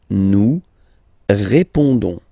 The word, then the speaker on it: nous répondons: Don't pronounce the final S. You only pronounce this on sound. So you get répondons. Nous répondons.